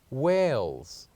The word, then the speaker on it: whales: with the fifth word which is whales whales so the silent letter of the word whales is letter h letter h and finally